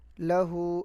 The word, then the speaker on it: لہو: ہا الٹا پیش ہو، لہو۔ لام کو نہیں کھینچیں گے، ہا کو کھینچیں گے۔ لام کو اس لیے